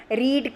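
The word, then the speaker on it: read: रीड का रीड ही होता है, स्पेलिंग सेम रहता है, लेकिन हम प्रोनाउंसिएशन रेड बोलते हैं. रीड, रेड, लेकिन स्पेलिंग सेम रहेगा.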